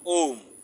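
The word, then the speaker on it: ওঁ: এইটা ও লেখে চন্দ্রবিন্দু আছে, তার মানে এটা হচ্ছে, এটার উচ্চারণ হবে, এই ব্র্যাকেটে দিয়ে দিছি ও রসু ম ওম।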